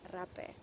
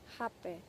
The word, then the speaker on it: rapé: in in Spanish language rape but in Portuguese language in Brazil where it's an integral part of the culture in in the Amazon it's pronounced Hab because the r is a h so you know if